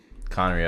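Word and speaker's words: Khaenri'ah: royal guards of the final dynasty of conria conray okay that's how you pronounce it he failed to prevent the destruction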